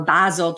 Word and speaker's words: Basel: we know that um bazel 2 or Basel II as they pronounce it over in Switzerland a vasel 3 rather